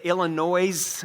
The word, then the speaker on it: Illinois: game they would say illinois avenue we're saying no the s is silent they understand that and